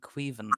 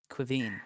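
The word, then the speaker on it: Caoimhín: okay, what's your revised and practiced response to the appointment of Victoria and Queven O'Neill? Queveen, whatever. It's pronounced Kevin, by the way.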